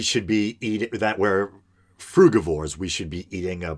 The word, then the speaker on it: frugivore: omnivorous, or then there's the term frugivore or frugivore, as I've heard some pronounce it.